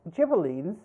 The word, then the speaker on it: Ghibellines: The Guelphs and Ghibellines, in English it's pronounced Guelphs, Ghibellines, were factions supporting the Pope and the Holy Roman Emperor, respectively, in central and northern Italy.